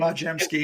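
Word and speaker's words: Podziemski: I can never pronounce his last name. Podjemski, yeah.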